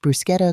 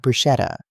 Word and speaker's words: bruschetta: It's pronounced bruschetta Chloe, not bruschetta.